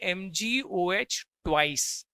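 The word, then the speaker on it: Mg(OH)2: MgOH2 नहीं बोलेंगे। इसको बोलेंगे MGOH ट्वाइस।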